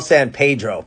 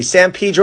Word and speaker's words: San Pedro: of the 20th century san pedro had a large portuguese fishing community and in portuguese the pronunciation was a lot closer to pedro so which one is